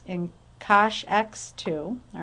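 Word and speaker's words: cosh: remember we can call this cinch X and Kosh X2 all right here's hyperbolic cotan and tan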